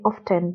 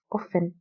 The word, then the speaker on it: often: people like to say often but the correct pronunciation is often the t is silent in turban hardly ever